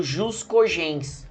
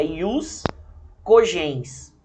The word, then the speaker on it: ius cogens: Nós vamos tratar do chamado jus cogens, tá? Ou a melhor pronúncia, né, vinda do latim seria ius cogens, tá?